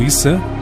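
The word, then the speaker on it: Isa: Jesus, ou Issa, como é pronunciado no Islã, seria apenas mais um dos profetas que Deus enviou.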